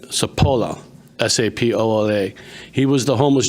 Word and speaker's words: Sapola: They call him Doc and I make sure I pronounce his last name right. Sapola.